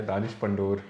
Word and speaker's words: Danish Pandor: पहली बात तो ये कि आपने मेरा नाम प्रोनाउंस गलत किया, दानिश पंडोर। दानिश पंडोर, okay.